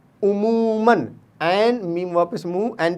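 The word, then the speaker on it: عموماً: फ़ौरन में भी हम नून प्रोनाउंस कर रहे हैं, लेकिन लिखने में अलिफ लिखा जाता है। उमूमन में भी नून मीम नून मन पढ़ते हैं, उमूमन पढ़ते हैं, लेकिन लिखने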